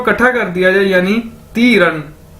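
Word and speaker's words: 敌人: तो अगर इन दोनों को इकट्ठा कर दिया जाए, यानी तीरन। DI यानी ती, REN रन, DI ती, REN रन, तीरन।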